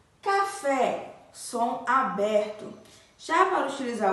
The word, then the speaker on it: café: o som aberto certo como café café tem o som aberto e a sílaba tônica é fé que a sílaba mais forte café né então café eu